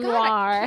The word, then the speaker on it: noir: Like film noir. Film noir.